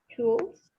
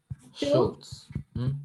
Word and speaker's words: Schultz: but then Howard, I don't know how to pronounce it. It's Schultz. Do you know that? Schultz. Schultz? Schultz.